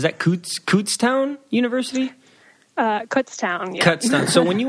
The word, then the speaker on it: Kutztown: went to I think it's how do you pronounce it is that CS CS University uh Kutztown yeah cown so when you went to Kutztown